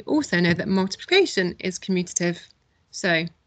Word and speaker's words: commutative: Let's see how many syllables commutative has. Commutative. So 4 syllables.